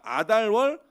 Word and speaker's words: 아달월: 마지막 달이 아달월이에요 예 아까 우리 전선이 이달 월이라고 읽었는데 아달 월이 마지막 달이에요 이 아달월이라고 하는 마지막